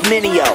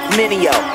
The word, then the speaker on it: Mineo: Everybody make mistakes like VJs, tryna say my name, it's Mineo. Say it with me, Mineo.